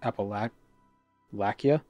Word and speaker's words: Appalachia: Actually, it's pronounced appalac lakia. the ch as in lock. Well, this it's the Appalachian Mountains, but I've also heard the region being referred to as Appal Appalachia or Appalachia or I don't know.